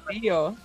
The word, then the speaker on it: Carrillo: Carrillo.